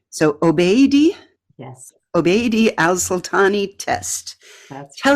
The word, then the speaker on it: Alsultany: mispronounce the other person's name, So Obeidi Yes, Alsultany test. that's Tell right. everybody about it and what it means. So the Obeidi Alsultany test is a test to help Hollywood improve representations of Muslims.